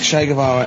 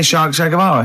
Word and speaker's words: Che Guevara: Che is like shake, and his surname is like guitar.